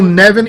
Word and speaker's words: Nevin: Now, does your last name rhyme with Steven or Kevin? Kevin. All right, boom. That's what I thought. We have Will Nevin in the house.